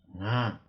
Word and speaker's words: घा: माछालाई अङ्ग्रेजीमा फिस भनिन्छ भने खाम भाषामा यसलाई घा भनेर भनिन्छ। यसमा घाको पछाडि कोलन प्रयोग भएकोले घालाई ह उच्चारण हुने गरेर घा उच्चारण गर्ने।